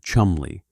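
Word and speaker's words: Cholmondeley: His name was Charles Choland Lee and the name is pronounced Chumley which is important to establish immediately because the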